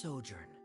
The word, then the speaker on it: sojourn: Director Zosimos, how do you pronounce this word? Let me see. Ah, that's sojourn.